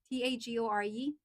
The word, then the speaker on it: Tagore: Tag is it is it pronounced as tagore? T a g- o r e.